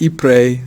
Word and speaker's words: Ypres: Man, for years I said Ypres. Growing up I said Ypres. It's just the way it looks when you read it in English, but it's pronounced Ypres. So again, I hope I'm doing the French pronouncement right.